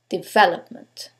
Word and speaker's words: development: Is it the second one, development? The third one, development? Or the last syllable, development? In this case, it's the second syllable, development.